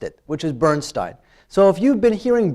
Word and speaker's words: Bernstein: Though we should probably pronounce it the way his family pronounces it, and that would be Bernstein.